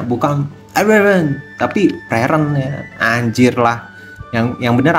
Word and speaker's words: Frieren: bayangkan gu ke mana Kasihan veren ya kan bacanya gimana Fen veren Fen gua kadang di diprotes itu bang itu bacanya bukanen tapi veren ya anjirlah Yang yang benar apa sih Fen